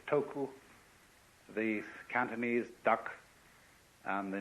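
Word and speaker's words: 徳: this word death uh the Japanese pronounce it toku the cantones duck and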